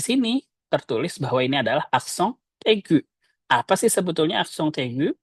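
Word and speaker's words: accent aigu: Contohnya kita lihat di sini ada aksong tegu. Aksong eggu tulisannya aksong eggu tapi dibacanya aksong tegu.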